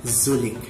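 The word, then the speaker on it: du lịch: I don't know if tama yung pagkakabigkas ko, but according to my Vietnamese friend, it is read as Zulik.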